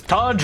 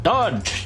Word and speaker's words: Taj: But the other Taj, I sound so like I don't even know how to pronounce his name. It's Taj, man. Taj. You got to put the brown accent in there.